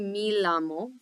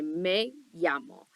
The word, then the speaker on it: me llamo: name is Miss you never want to say me lamo first of all um the e in Spanish remember always means that e noise so if you're gonna say my name is you say Mei yamo so taking a few